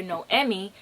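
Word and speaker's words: Noemí: about the main character no emmy because i pronounced her name wrong in my last video that i recommended this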